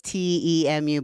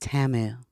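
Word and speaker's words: Temu: Yeah, but it's T Mu, but it's pronounced Tamu.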